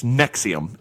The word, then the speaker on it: NXIVM: to pronounce this, but NXIVM, it's Nexium is what they call it.